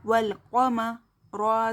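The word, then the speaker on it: والقمر: जज़म है, जज़म और लेटर को पहले वाले लेटर से मिलाकर पढ़ो। अलिफ ये साइलेंट है इसलिए अलिफ को नहीं पढ़ेंगे।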